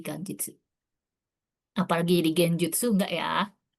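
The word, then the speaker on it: 元日: Nah, tapi kalau dia ketemu sama kanjinichi, dia bukan dibaca genjitsu, tapi jadi ganjit. N G ini lumayan nih sering kadang-kadang muncul di JLPT ya ganitsu atau hari baru. Jadi karena dia dibaca gengki bukan berarti dia jadi genjitsu ya, tapi jadi ganjitsu.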